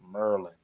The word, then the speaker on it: Maryland: I was in Virginia they used to pronounce it Merlin the cat's from Maryland they'll be like man it's not Maryland it's Merlin you know what I'm